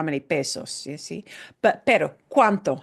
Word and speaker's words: cuánto: ¿Cuánto cuesta? Here's one of our question words we're going to focus on today. ¿Cuánto? ¿Cuánto? How much? And notice how we pronounce this. Every letter in cuánto is pronounced.